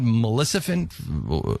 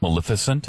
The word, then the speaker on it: Maleficent: I I saw that Melissant, how do you say her name? Melissan, right? Maleficent.